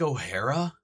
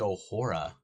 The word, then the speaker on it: O'Hora: O'Hara? No. O'Hora. O'Hora. Say it right. Acknowledge the O. Acknowledge it. Don't call it an A. It's an O. There's no little coming off the end of it. It's just whew, little circle.